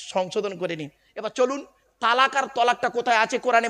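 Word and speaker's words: طلاق: ঝগড়া হোক বা বিভিন্ন কারণে স্বামী তার স্ত্রীকে তালাক দেয় ঠিক না বেঠিক শব্দটা কিন্তু তালাক নয়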